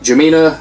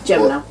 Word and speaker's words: Gemina: Now this is, I don't know if it's pronounced Gemina. Gemina.